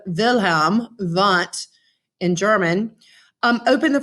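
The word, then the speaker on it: Wilhelm Wundt: picture from 1879 and wilhelm want um and really the w should be pronounced as a v of the sound wilhelm vent in german um open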